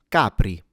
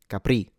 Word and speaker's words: Capri: This is not pronounced Capri. Well, I guess unless you're French. But since this is an Italian word, capri, the stress is at the beginning on the first syllable.